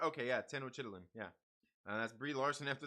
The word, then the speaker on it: Tenochtitlan: Tenochtitlan is how it's pronounced. Yeah, yeah. See, I was right. Okay, yeah, Tenochtitlan.